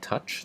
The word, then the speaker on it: 土: If the top line is longer than the bottom line, this is pronounced si. And if it's the opposite, the bottom line is longer, that's tou.